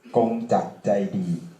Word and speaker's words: Kongjak Jaidee: My name is Kongjak Jaidee, in Thai pronounced Kongjak Jaidee, and I'm a member of World Party Thailand.